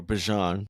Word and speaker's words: Bijan: Um, in my draft on Saturday, I took uh Bejon or Bjon as he's his real name is pronounced.